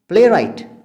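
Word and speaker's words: playwright: प्ले राइट, प्ले राइट spelling क्या है?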